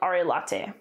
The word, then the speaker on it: Arelate: And again, in Latin, you pronounce all the letters. So this would be probably Arelate, Arelate.